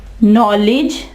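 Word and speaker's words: knowledge: ठीक है, एक नो, नाइफ, नॉलेज, नॉलेज। ठीक है, नॉलेज। यहां देखें डी जो है वो भी साइलेंट है, नॉलेज नहीं कहा हमने, नॉलेज, इल्म।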